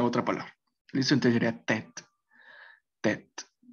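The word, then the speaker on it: tête: Sí, entonces esta e la van a suprimir. Sí, ya sería tet o tet en vez de tt o alguna otra palabra. Listo, entonces sería tet, tet.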